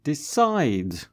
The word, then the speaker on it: decide: And decide, small D-E, capital C-I-D-E, decide.